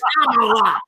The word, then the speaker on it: Kamala: Her name is Kamala. That's the whole point of the TikTok. And so you know how to say her name. Her name is Kamala.